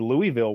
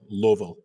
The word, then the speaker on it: Louisville: Meanwhile, I stayed um in Louisville one night with um You stayed